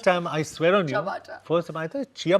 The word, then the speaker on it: ciabatta: देखो, अगर आप चिया बट्टा करके बुलाओगे तो पता नहीं तो how do you वो pronounce देंगे it? भी नहीं आपको। तो कैसे प्रोनाउंस करते हैं इसको? चबाटा। चबाटा। चबाटा bread। It's और एक चमाटा मार देंगे। चबाटा। It's चबाटा। First time I swear on you.